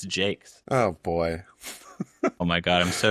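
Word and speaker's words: Jacques: Did you know that it's pronounced Jakes? It's like you you definitely did that right, but apparently it's Jakes.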